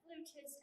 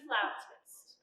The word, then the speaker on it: flautist: Well, darling, if you pronounce it flutist, everyone will laugh at you. It's flautist.